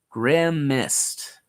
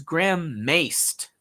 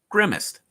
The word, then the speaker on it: grimaced: grimaced definitely has the word grim in it grim mist mmm that's Grimes that first one and that's